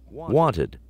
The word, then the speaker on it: wanted: the end arrived arrived wanted decided so arrived sounds like a d wanted that's the T sound so we have the separate syllable and decided it's the